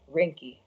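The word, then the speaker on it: Reinke: asked about John I'm gonna say his last name wrong can you say it for me Rennick or rinky or I don't want to say wrong or it is John rinkie rinkie I said it I can't believe I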